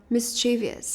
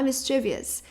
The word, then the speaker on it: mischievous: Mischievous. Mas não é mischievous. É mischievous. Mischievous. Que significa travesso. Ou malicioso, né? No sentido de travesso. Então, mischievous. Ok? Então, a primeira sílaba é a mais forte.